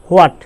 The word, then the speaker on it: what: আমরা এটাকে বলে থাকি কি হোয়াট, হোয়াট, হোয়াট, হ দিয়ে উচ্চারণ করে থাকি। আসলে এখানে এইচটা কিন্তু সাইলেন্ট, আর সঠিক উচ্চারণ হবে